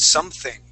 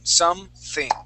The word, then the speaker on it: something: something good good now let's practice your th sound there on the word something okay give me a good th sound something something something okay one